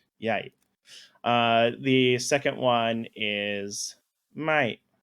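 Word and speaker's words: ใหญ่: Anyway, so the first one is yai, as in big, so low tone, yai.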